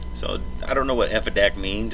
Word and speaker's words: Effidac: shortened the name or just called it Effidac so it would rhyme with back.